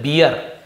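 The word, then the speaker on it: bear: वो बियर होता है बेयर याने भालू टेडी बेयर टेडी बियर नहीं बोलते टेडी बेयर और यह बैर है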